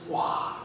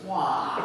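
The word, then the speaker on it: Hwa: He said, my name is Hua. She said, what? He said, no, my name is Hua. She said, spell it.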